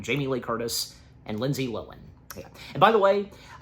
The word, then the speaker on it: Lohan: So, enough said, let us now dive into what CinemaSins has to say/sin on Freaky Friday, starring Jamie Lee Curtis and Lindsay Lohan.